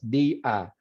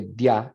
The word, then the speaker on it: día: Entonces, día son 2 sílabas, día. And the reason ia doesn't form a diphthong there is because you've accented the I, which separates it then from the A. So you don't say dia, it's dia, dia.